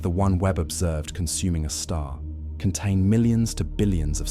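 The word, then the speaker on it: Sagittarius A*: The super massive black hole at the center of our Milky Way galaxy, Sagittarius 8, pronounced a star, contains about 4 million solar masses and has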